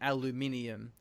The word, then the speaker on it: aluminium: I started saying aluminum, which is the American pronunciation, because it's just easier to say than aluminium.